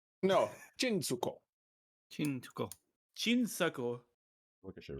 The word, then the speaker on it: chinsuko: No, Chinsuko. Chinsuko. Chinsuko. Look, I should write this out so that I don't know. As a note, I'm saying it wrong on purpose. Chin as in Trin and Suko. Su.